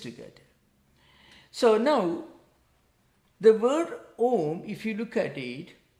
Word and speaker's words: Om: Because you don't chant Auma, but you pronounce only Om, only one sound.